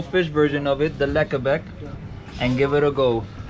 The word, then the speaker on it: lekkerbek: It is the lekkerbek.